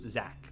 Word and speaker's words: Zach: Because of the CH, it's apparently very alien to people for it to be pronounced Zach, like the ZAC or.